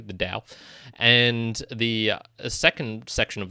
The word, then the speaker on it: Tao: I'll pronounce it correctly, the Tao.